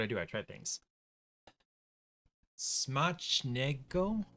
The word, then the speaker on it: Smacznego: Smacznego. So C and Z together make like a CH sound, right?